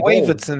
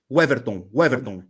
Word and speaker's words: Weverton: Waverton, isn't it? How do you say his name? Yeah, it's Weverton.